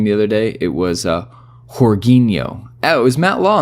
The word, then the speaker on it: Jorginho: Yeah, apparently that's like the Portuguese way to pronounce it, but obviously most of us are just Americanizing and Britishizing it and saying Jorginho.